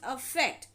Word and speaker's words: affect: effect now here focus the pronunciation is different effect with the e is known as effect and effect with the a is called affect now meaning change or